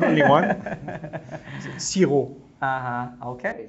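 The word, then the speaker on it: xi-rô: Siro. Uh-huh. Okay, sounds very close. Siro. Like in Vietnamese, you don't pronounce the P.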